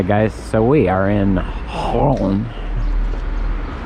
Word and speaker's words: Rouen: so we are in Holland which is if you're American you probably pronounce it ruin or wrong and we are at